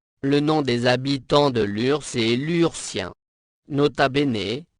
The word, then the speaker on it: Lurs: nom des habitants de Lurs et lurcien nota bene on prononce bien sur l'URSS n’est donc pas homophones de Lure l'urssa reçu le label